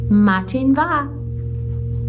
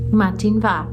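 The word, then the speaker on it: Madainn mhath: Matin va. Matin va. It's spelled all kinds of wonky, but I'm pretty sure that's how you say it.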